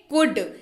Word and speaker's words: could: करने के क्रम में एल जो है वो साइलेंट पे रहेगा।